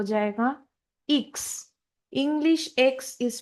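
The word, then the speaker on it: Ix: English का जो एक्स है वो जर्मन में हो जाएगा इक्स। English एक्स is pronounced as इक्स in German.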